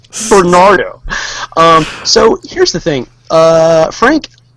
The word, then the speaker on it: Bernardo: I need to spell it for people so they don't think it's Pernardo or Nernardo or anything weird like that. So, you know. Yeah, it's Bernardo. Nothing weird. Bernardo.